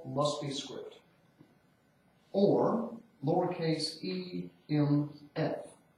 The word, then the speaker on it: EMF: Or lowercase e m f. Not pronounced inf, just EMF.